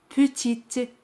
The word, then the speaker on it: petite: Pequeña es petite. Petite. Aquí T se pronuncia al añadir la letra E. Petite. Pero E al final no se pronuncia.